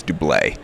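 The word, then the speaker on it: Doublet: which I've recently learned does not use the hard T sound at the end it's not double it it's Dule generally I know du blade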